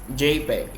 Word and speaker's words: JPEG: so now let's discuss jpeg okay first gif remember that give uh this used for animation on the internet okay so jpeg so jpeg pronounced jpeg yeah it's also supported